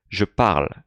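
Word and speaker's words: je parle: often among students so pay close attention to the way i'm pronouncing that verb je pal to pal il not pronouncing the e out loud that's what that was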